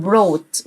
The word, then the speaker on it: brought: جلب يعني brought، والجي اتش مش هنطقها في النص.